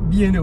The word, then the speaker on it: B&O: Attention comment ça se prononce. B&O. B&O, voilà.